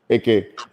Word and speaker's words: Ake: Is it Ake or Ike? AK. Ake.